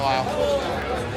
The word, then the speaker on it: Lyle: Smile, Lyle. Eye contact, buddy. Bring it. It's funny because his name rhymes with smile, but...